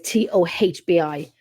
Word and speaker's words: Toby: So people spell his name Toby, but it's Tohbi.